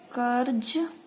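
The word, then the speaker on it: क़र्ज़: कर्ज, कर्ज, कर्ज, कर्ज की साउंड ऐसे आएगी, का उच्चारण इस तरह से होगा, ज, ज, फ, ठीक है।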